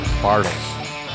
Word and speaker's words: Bartles: it's great bartles just like bartles and james uh wine coolers from way back when